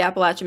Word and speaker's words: Appalachian: And then as you approach the Appalachian Mountains, yeah, that's how you pronounce it.